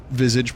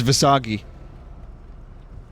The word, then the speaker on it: visage: I know it's visage, but I didn't want to seem pretentious. Charles, how do you say it? Visage. Visage. Visage. And here I am thinking it was Visagi.